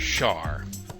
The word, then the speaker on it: shar: this lesson is about a program named shar shar shar is sort of an acronym for